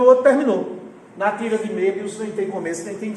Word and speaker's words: Möbius: Quem tem uma curiosidade sobre isso foi um matemático chamado Möbius. Olha a escrita do nome dele. Meu Deus, extrema O, B-I-U-S. Só que a pronúncia é Möbius.